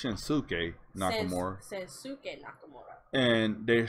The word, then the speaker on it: Shinsuke Nakamura: First of all, they're saying his name wrong. It's Shinsuke Nakamura.